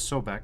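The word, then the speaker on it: Sobek: I usually see it pronounced as Sobeck, but whatever.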